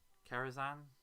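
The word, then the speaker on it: Kerenza: It helps with the evacuation of Karazhan 4. That's how it's pronounced.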